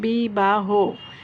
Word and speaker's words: বিবাহ: উদাহরণ খেয়াল করো, বিবাহ, এই যে হ, এই হটা ওকারের মতো উচ্চারণ হচ্ছে, বিবাহ।